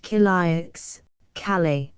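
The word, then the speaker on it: Quillacq: to publish his letter quac Hotel pronounced K Cal dear it I arrived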